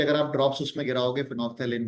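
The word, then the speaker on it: phenolphthalein: Okay, फिनोफ्थेलिन, L silent रहता है बोलते समय उसमें।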